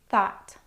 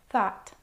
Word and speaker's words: thought: There are some words that rhyme with bought and also have the same spelling, so I've grouped these words with bought.